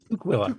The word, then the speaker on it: Tukwila: Tukwila. Tuk as in what Ken and I were wearing our heads in the snow.